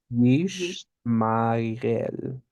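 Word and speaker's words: ישמעאל: How do you say it? Ishmael. Yish. Yish. Yishmael. Hmm.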